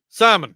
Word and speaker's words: salmon: no because it's pronounced salmon you don't you know salmon no there's no l the L is silent I'll put the Nilla